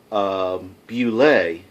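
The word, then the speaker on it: Bulette: Robots, and there is a, I believe it's properly pronounced, Bullet, not a bullet. I always call them bullets. I don't know why. It looked like his bullet, spelled like bullet, but I believe it's Bullet.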